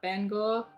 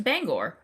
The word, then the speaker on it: Bangor: to say pronounce that Bangor how is that spell b-a-b-a-n-g-o-r e-n put that in there we're just gonna go with Bangor because Bang uh Gore nice bang and Gore bang and Gore uh